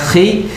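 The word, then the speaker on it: Χ: Nah, jadi XP itu kalau XP bacanya dalam bahasa Yunani, X itu bacanya chi, P itu bacanya ro.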